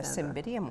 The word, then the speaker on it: Cymbidium: I'm going to do a cymbidium orchid arrangement. A cymbidium orchid? Yes. Cymbidium. Am I pronouncing that yeah, properly?